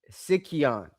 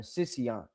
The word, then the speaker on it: Sicyon: Uh and then uh Sic- Sicyon, I think it's how you say it, or Sicyon.